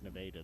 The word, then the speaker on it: Nevada: Yeah, it's Nevada though. They pronounce it differently than the state.